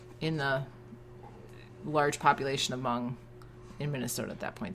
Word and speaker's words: Hmong: and he founded the Hmong Club and became its first president. Said it wrong. What? You said the H. Hmong. I did say he went to Benjamin Franklin High School. He founded the Hmong Club and became its